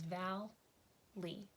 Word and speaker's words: valley: so like I said there are two syllables in the word Valley and they split right between this Double L so it is not a bonus letter it is not a glued sound it's not all it is Val Li okay what type of